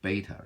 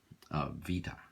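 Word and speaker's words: β: beta gamma theta phi these are what we call english pronunciations and actually for all the eyes right greeks Saifi this is a fee there's a theta okay and this is we say beta right what they really sing Vita this is this is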